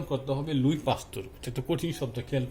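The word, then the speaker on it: Louis Pasteur: বলা হয়েছে লুই পাস্তুর, এটা একটি ইংরেজি শব্দ, আমাদের উচ্চারণ করতে হবে লুই পাস্তুর।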